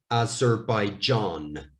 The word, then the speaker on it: Azerbaijan: So, zer, by, John, Azerbaijan, Azerbaijan.